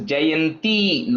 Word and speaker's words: Jayanti: Only correction is Jayanti, long E. Okay, I think when you're saying it, it sounded like a short E there for the Jayanti.